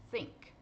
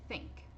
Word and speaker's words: think: Por exemplo, essa palavra, think. É só você pronunciar sink, como se fosse sink de pia, com a letra S. Aí você vai prender um pouquinho essa língua. Sink, think, think. Saiu o som.